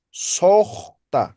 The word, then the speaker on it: sojta: Esto van a pronunciar como O, esto también como O, esto también como O. La escritura siempre va a estar como U, pero solamente la pronunciación. Entonces, en vez de decir Alco. sota, van a decir sojta, como si fuera O.